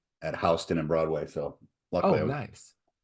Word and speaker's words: Houston: you know uh oh H County Georgia is also pronounced like the street so it's also H